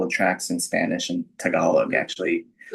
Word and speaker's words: Tagalog: I used to say Tagalog and then somebody was like, "Uh that is not how you say it." Yes, it's Tag- it's Tagalog and I do I do